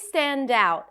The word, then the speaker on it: stand out: Stand out is another phrasal verb, and in phrasal verbs, we stress the second part. Stand out. But always stand out and always be grateful.